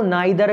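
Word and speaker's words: neither: नीदर नॉर, नीदर को नाइदर भी पढ़ते हैं, नाइदर इंडियन प्रोनाउंसिएशन होता है, नीदर आपका अमेरिकन और ब्रिटिश प्रोनाउंसिएशन होता है।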